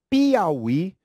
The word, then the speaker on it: Piauí: note isso daqui nota as palavras Teiú Tuiuiú e Piauí continuam com o acento porque a sílaba forte é a última Basta apenas acrescentar trabalha